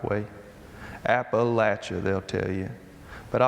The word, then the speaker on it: Appalachia: I know people from Kentucky who will cut you for not pronouncing Appalachia the right way. “App-uh-latch-uh,” they’ll tell you.